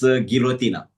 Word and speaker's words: Guillotina: How would I pronounce it? Uh, it's Guillotin. Uh, the name for the international competitions. It's Guillotina.